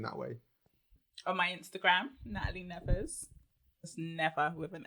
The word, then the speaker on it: Natalie: that all the time Natalie without the H no h after the T wouldn't that be Natalie no still Natalie it's Natalie silent h doesn't need to be there interesting and my did